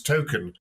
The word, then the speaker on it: Token: J.R tolkien's surname but actually the way it's pronounced is token uh so I think